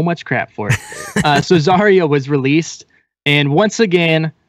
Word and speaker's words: Zarya: big news how do you how do you pronounce it I say zah it is zarya yeah I will yeah well I know I'm